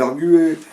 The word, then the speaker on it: arguer: fautes de prononciation alors est-ce qu'on dit arguer ou arguer alors j'explique ça vient d'arguments et en fait on dit argué est-ce que poil ou